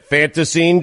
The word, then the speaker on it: Fantasine: Fanta, like the soda, scene, dream. That's it. Fantasine Dream.